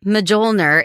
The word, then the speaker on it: Mjolnir: Thor's Mjolnir is made from the metal of a dying star. And how do you pronounce that?